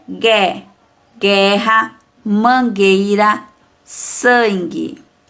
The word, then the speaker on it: sangue: Sangue, também não pronunciamos a vogal U.